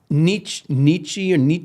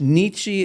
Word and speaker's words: Nietzsche: Somewhere in here, if I can find it quickly, I quote from Nietzsche. How do you say his name? Or Nietzsche. It's Nietzsche. pronounced two ways. I've heard it pronounced both ways.